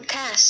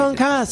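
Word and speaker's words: concassé: Computers never do the accent. No, they do. So, Would you explain to them that in the kitchen it's concasse?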